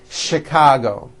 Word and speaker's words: Chicago: things even more difficult there are a couple of words that are spelled with ch and are also pronounced with a sh sound words like chef and the City of Chicago okay having said that